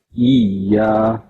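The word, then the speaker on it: إِيَّاكَ: Iyyaka na'budu wa iyyaka nasta'in. The correct pronunciation is iya. Some people recite wa iya. The shadda shows that there are two ya letters here, side by side.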